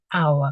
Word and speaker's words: hour: at the bottom here our it doesn't make the H sound at the beginning so we would say an hour because it sounds like the hour sound okay um an elephant